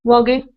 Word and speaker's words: Walgie: But if you want to get my pronunciation, yes, it would be Walgie.